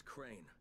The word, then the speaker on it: Crane: No, my name's Crane. Crane? Ne anlatıyor bu lan? Crane rhymes with train. Ne yapayım, ne edeyim?